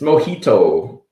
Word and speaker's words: mojito: It's mojito. The J is an H because it's Spanish.